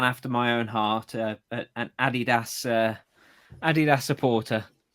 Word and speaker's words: Adidas: Americans say Adidas. It is actually Adidas because um it's Adi Dazzler. Because I say it is. No, no, no. It's cuz it's it's a German company.